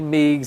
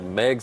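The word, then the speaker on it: Meigs: in Megs County and I always want to say migs it looks like migs I learned a long I learned a long time ago at the Sentinel they said Megs like eggs so Megs County uh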